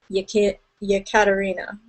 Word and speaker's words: Jekaterina: I said Jekaterina last week, but it's one of those ones where they pronounce it with the Y. Jekaterina.